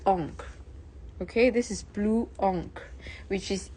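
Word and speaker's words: encre: Okay, this is blue oon which is e uh is spelled e n c r e. Blue enk which means blue ink.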